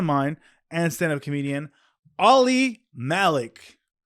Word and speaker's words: Malik: no you're practicing but I've naturally always said Malik just because it rhymes with Ali Ali Malik it's easier